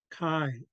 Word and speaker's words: Kai: I'm going to spell Kai like this, like, you know, like rye bread, it rhymes with that, Kai.